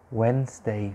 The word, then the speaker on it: Wednesday: d and the e so the d and the e they are silent you write them when